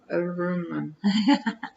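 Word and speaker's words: Rohrman: Reurman.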